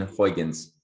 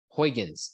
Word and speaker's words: Huygens: my gosh what is that how do you pronounce that hugh james uh yeah chris christian huygens huygens okay yeah huygens covered um the um the